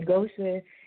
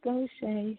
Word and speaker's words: Gosha: They say Gosha, and we just politely be like, no, it's Gosha. So we used to it. Yeah, you know what? I'm sitting here now trying to put a hyphen to it so I know that it's an A sound at the end, so I won't mess it up again.